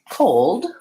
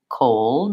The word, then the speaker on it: cold: I have trouble with the word cold that has the two sounds L and D at the end maybe that has difficulty